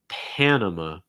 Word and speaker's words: Panama: about okay pan and so it's not pon okay it's more pan hey what's up people